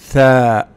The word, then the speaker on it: ثاء: ثاء ثاء. But the pronunciation and the spelling is ثاء.